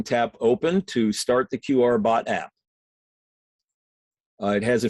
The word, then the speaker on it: QRbot: Store in that search field type the word QR b o t pronounced qrbot type that word in and then tap